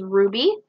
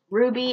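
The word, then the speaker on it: RWBY: back I don't know my wallet it is Ruby I got it from an old friend of mine um Ruby is the awesome show it's an American anime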